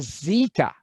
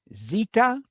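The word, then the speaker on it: ζῆτα: like an a epsilon that's a zeta a zed for us zeta and the sound of that letter is z as in buzzed you've already heard that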